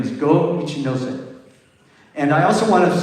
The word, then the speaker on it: Go Ichinose: And I forgot to mention the composer, but I think Kaya helped me out with the pronunciation. The name is Go Ichinose.